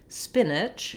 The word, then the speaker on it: spinach: So first, looking at the word spinach, we have first syllable stress. So my spin syllable is held longer and my ich syllable is held shorter and has a reduced vowel. The spin is just like the word spin.